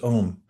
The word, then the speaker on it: Om: The first one's m spelled normally a u m and it gets truncated as most languages do when the vowels come together and we just pronounce it as one syllable.